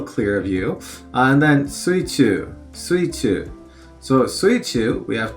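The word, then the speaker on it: 水中: So the kanji on the left often gets pronounced as sui. So sui or mizu, you know, but in this case sui. And then the one on the right typically gets pronounced chu when it's in this position, but it can be pronounced naka. But suichu is underwater because you're in the water.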